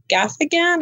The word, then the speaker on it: Gaffigan: I like Jim Gaffigan.